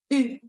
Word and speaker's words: eu: Y atención a la pronunciación del participio pasado del verbo avoir, que es eu.